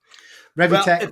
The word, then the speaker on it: Revitech: So Revitech, Revitech, whatever you want to call it. Revitech, either way.